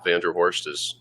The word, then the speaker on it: VanDerHorst: VanDerHorst it's spelled exactly like, or pronounced exactly the way it sounds.